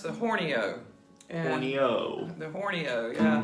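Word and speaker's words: Horney Ewe: N E Y E W E, but it's pronounced the Horno.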